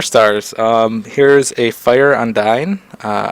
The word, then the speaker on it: Undine: um here's a fire undyne uh i believe that's how you pronounce it undyne i don't know my friend kept calling it undine uh i'm pretty sure it's undyne but let's take a